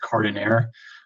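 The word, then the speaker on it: Cardoner: like it's Brown scored honor but it's actually pronounced Cardin air it's a river in Spain being that word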